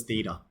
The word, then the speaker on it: theta: This symbol is spelled this way and it's pronounced as theta.